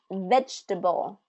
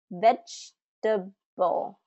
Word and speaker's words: vegetable: This one, vegetable, vegetable, vegetable. Now this one's interesting because it has more of that ch sound in it, even though it has a G, vegetable.